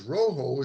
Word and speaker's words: Rojo: The J is pronounced as an H in Spanish because rojo is a Spanish word for red.